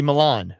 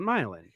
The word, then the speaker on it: Milan: mispronouncing it should be Milan right course it should be Milan but we call it milin uh in our you